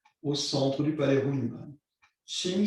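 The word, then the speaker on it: qing: Ching s'écrit Q-I-N-G, Ching.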